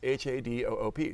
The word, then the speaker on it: Hadoop: and we compared and we both spelled it h a d o o p so we figured that's good other people will